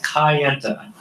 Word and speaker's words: Kayenta: But I asked him how to pronounce it specifically because I knew that we had a little difference of opinion, and I think it's the accent more than anything. It is Kayenta.